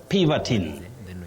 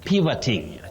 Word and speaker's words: pivoting: Then at Mudanga_Paul, you say pivoting, pivoting, not pivoting. We have pivot, pivotal, and pivoting. Now, the problem is that O, but it takes the sound the weak one.